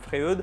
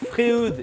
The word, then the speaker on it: Freud: Et pour éclairer notre choix, j'ai à ma disposition un bel échantillon de lames Freud en diamètre 160. Alors, premier point à lever tout de suite, on prononce Freud et non Freud, qui nous a beaucoup